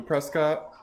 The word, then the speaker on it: Prescott: on going up to Prescott or Presque it depends on how you say it where you're from in Arizona so I'm going to